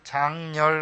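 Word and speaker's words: 장렬: 열사, 선열, 장열 할 때 이렇게 쓰겠죠. 장열 할 땐 렬이고요. 선열, 열사는 열로 음이 나겠죠.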